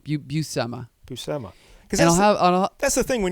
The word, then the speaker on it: Buscema: No, I thought it was Buscema, then I thought it was Bushima, but no, it's Buscema. Buscema. Buscema.